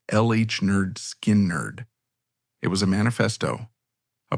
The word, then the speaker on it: Lynyrd Skynyrd: The album pronounced LH Nerd Skin Nerd.